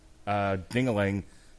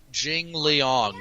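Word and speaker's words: Jingliang: just use your eyes, jingling. How are we pronouncing that, by the way? Jing Liang, you heathen.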